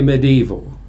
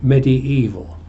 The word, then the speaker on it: medieval: to make it an adjective and you have medieval when you pronounce it you keep the eye of medium so you don't say medieval you say medieval well that clears up the spelling and the pronunciation now why the latin because latin was